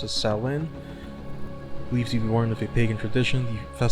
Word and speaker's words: Samhain: Is Susanne, pronounced as Samhain, believed to be born of a pagan tradition.